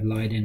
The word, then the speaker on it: Leiden: she had a V factor v is it Leiden mm-hmm factor v leiden so okay factor v